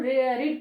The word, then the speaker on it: read: Having रेड the story, यहाँ पर READ रीड लिखते हैं, लेकिन V3 फॉर्म रीड का होता है रेड, READ रेड। प्रोनाउंसिएशन में हम लोग बोलते हैं रेड ही बोलते हैं, है ना।